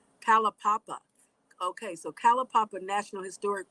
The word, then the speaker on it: Kalaupapa: Kalaupapa. Kalapapa.